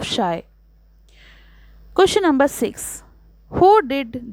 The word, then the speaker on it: Scheu: did people mispronounce answer people mispronounced the entire name Shai commonly saying it as Shu insteed of shy question number six who